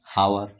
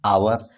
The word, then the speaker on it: hour: एच आए, ठीक है, जैसे HOUR, हावर, हावर नहीं इसको क्या बोलते हैं, आवर, घंटा।